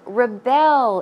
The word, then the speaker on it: rebel: Verb form once again, that is to rebel. As I said, the stress goes on the second syllable.